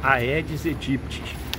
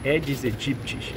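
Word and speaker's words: Aedes aegypti: Terrível mosquito edes egipt atenção pra pronúncia edes edtes tem jornalista aí de emissora ganhando 1 milhão por mês que fala aedes egipt mas é errado é edes egipt a latim tem um som de E então aedes é edes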